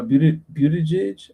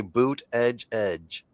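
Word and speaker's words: Buttigieg: Pete uh Budajage. I can't say his name. Bootage edge. Bootage edge. Buage edge. Right on. See uh on Fox edge edge. Just say boot edge edge.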